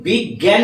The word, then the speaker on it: বিজ্ঞান: হবে কোনটা লিখবো কিন্তু আমি যখন বিজ্ঞান বলছি আমার উচ্চারণের মধ্যে একটা গ আসছে অবশ্যই গ আসছে এটার পরেই বয় হস্ বয় হস্কার তারপরে আসছে গ যদি গ এসে থাকে অবশ্যই ওইটা বৈর্ঘ্যের জয় এই বিজ্ঞান গ যদি আমার উচ্চারণে আসে বিগ বিগ এটা তো আসছে বিগ এই গ টা হচ্ছে